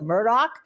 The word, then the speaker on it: Murdaugh: in the case of Alec Murdock and by the way that's how he pronounced his name when he was on